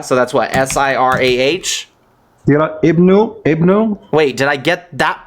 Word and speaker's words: Ibn: Is it IBNU? IBN, no you. Oh, just Ibn. IBN. Why did you say Ibnu? That's pronounced Ibn.